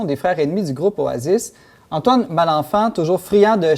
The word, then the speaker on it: Oasis: Bon, moi, je l'ai dit à la française, Oasis, mais on prononce plutôt Oasis.